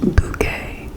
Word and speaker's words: Bucket: It centers on Hyasin Bucket, pronounced bouquet, a social climbing snobish woman obsessed with projecting an image of wealth and sophistication.